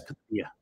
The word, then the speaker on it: cad chuige: But there's pronunciation, the way it comes out in the wash when people talk is katia.